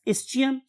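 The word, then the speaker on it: ischium: दूसरी का नाम क्या था, इस्कियम, और some people pronounce it एज इस्चियम, and last bone is called as the pubis.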